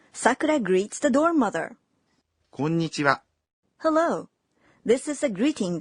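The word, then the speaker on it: こんにちは: Okay, you'd say こんにちは, clapping to the rhythm of 3 beats.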